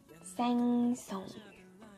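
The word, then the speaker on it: 생선: Cela va se prononcer seng song.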